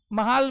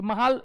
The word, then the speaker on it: महाल: टू फ villages हुआ महाल मीस लार्ज विलेज और ग्रुप ऑफ फोर टू फ स्मल विलेजेस महल शब्द य महाल य महाल होता महल लिख दिया महाल शब्द से क्या